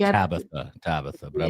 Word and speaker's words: Tabitha: Tabitha but I like your pronunciation Tabita.